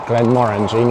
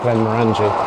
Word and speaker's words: Glenmorangie: You've got people like Glenmorangie up here, and that's how you pronounce it, Glenmorangie, not Glenmorangie.